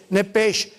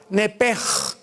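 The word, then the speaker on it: נפש: nepesh, como suena, N-E-P-S-H-M, nepesh. En el hebreo se pronuncia la SH como J, nepej.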